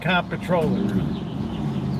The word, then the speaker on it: Comptroller: Goldstein, your State Comptroller. He made comptroller three syllables.